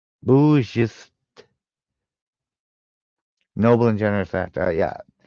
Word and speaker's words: bourgeois: Ooh, bourgeois. Bourgeois. Noble and generous act. Yeah. I figured out what the meaning was. The pronunciation.